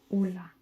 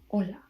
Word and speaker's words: hola: And H um is silent. So if we had you would pronounce hola, not hola, right? You would pronounce hola.